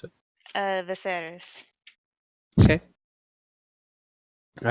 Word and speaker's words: Viserys: If it's Can you by say the his library, name one more time, the way that you'd pronounce it? Viserys.